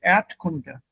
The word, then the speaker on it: Erdkunde: So the R, Erd is not pronounced. Instead, it becomes Erdkunde, Erd. So Erdkunde. Don't pronounce the R sound.